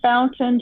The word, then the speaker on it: Fountain: name correctly young lady i say fountain just like water fountain okay and oh that